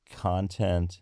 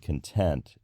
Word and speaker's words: content: in the English-speaking world the distinction between content and content is one that is a fixture if you know of any dialect of English where content the noun and content the adjective are pronounced in the same way then let me know